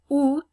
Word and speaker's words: août: Août, okay, the T is pronounced at the end, so those are a couple of things to be aware of.